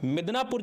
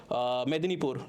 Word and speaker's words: मेदिनीपुर: 2002 के अंदर में आप देखोगे मिदनापुर जो आपका है, इसको स्प्लिट किया गया। पूर्व मिदनापुर जिसका हेडक्वार्टर तामलुक में है, और पश्चिम मिदनापुर, मेदिनीपुर, नॉट मिदनापुर, मेदिनीपुर, प्रोनाउंसिएशन को वो कीजिएगा, तो मेदिनीपुर जहां पर